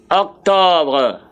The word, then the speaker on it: octobre: Okay, the next thing there is Octobre.